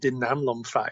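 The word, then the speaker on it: ดิน น้ำ ลม ไฟ: Or, as they say in Thailand, Din Nam Lom Fai, which is earth, water, wind, and fire. That's how they pronounce it here.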